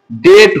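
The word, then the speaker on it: debt: এরকমই ডিবিটি আসলে ডিবিট হওয়া দরকার। কিন্তু ডিবিট হবে না। এটা কি হবে? ডেট হবে।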